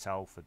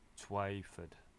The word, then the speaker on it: Twyford: I keep pronouncing it Telford, but it's not Telford, it's Twyford.